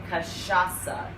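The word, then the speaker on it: cachaça: it so for all of you out there kashasa say it with me great um and this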